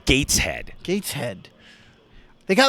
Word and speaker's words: Gateshead: How is that one pronounced? Is it Gateshead or Gateshead? I believe it's Gateshead.